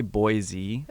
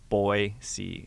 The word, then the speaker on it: Boise: boisey yeah Boise yeah the people always say boy Z I say boy yeah but it's B Y like boy C is like the right way to say yeah okay yeah that's